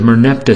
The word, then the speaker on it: Merneptah: In Egypt, the Merneptah stela boasts, quote, Israel, his seed is wasted, unquote, meaning they conquered them.